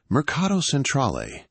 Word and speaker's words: Mercato Centrale: It's pronounced Myrr. C A H to Cra. You nailed it. Marcato Centrol.